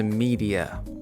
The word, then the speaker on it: media: Наступне слово медіа. Як він його сказав? Щось типу media. Dear media. Media. Правильний варіант media. Media. Тобто замість е ми кажемо і.